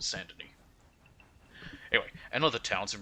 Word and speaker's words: Saint-Denis: I don't know why I pronounce it San, it's Saint, but Saint-Denis.